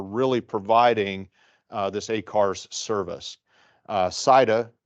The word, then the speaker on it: SITA: SITA, some people pronounce it CETA, is a company that originated really in Europe, but has coverage in North America and elsewhere.